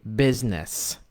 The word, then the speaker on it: business: And by stress, I mean saying certain words in English but with Arabic stress. So, for example, the word business, not business. So, business, business.